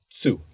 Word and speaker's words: zu: Notice the pronunciation of the initial "Z" is "t-s" - tsu.